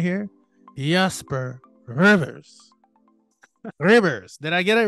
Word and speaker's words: Ribbers: Did I roll the R too long? I mean, it's tricky, man. It's difficult. It's Jasper Ribbers, but you know what? Like, Ribbers. I give you an A for pronunciation there.